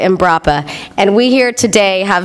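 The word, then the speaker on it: Embrapa: three words they are improper I keep saying that name wrong imprappa and brappa imbrappa and we here today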